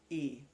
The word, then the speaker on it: y: Today, it's an old Mexican story, Señora Rica y E. That's Spanish for and. It's spelled Y.